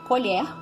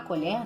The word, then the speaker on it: colher: É diferente a pronúncia, mas ali escrito tá igualzinho. Outro exemplo é colher, substantivo, né? A colher, né?